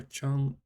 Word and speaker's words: Chongqing: For Chongqing. Or Chongqing, I can never remember which pronunciation is.